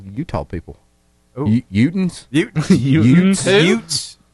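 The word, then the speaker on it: Eutaw: Utah, Alabama is spelled E-U-T-A-W. What? It is spelled the way that it sounds.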